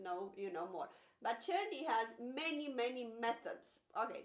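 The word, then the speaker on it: Czerny: and uh early intermediate i've always introduced the churny it's uh it's spelled c-z-e-r-n-y church and it's a composer that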